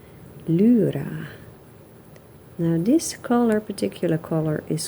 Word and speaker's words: Lyra: Now it's a German brand, so I think the pronunciation should be quite different. I think, as far as I know, a German would say Lyra Rembrandt polycolor. That Y, you know, the second letter of Lyra.